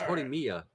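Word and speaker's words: Horimiya: bit that's why I say isia no it's horia you're adding in extra letters remember the I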